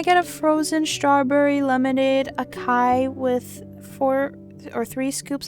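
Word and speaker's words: açaí: How to pronounce Oh, one of them is asai. So when I used to go to Starbucks, right, I would ask for, oh, can I get a frozen strawberry lemonade akai with four or three scoops of lavender powder?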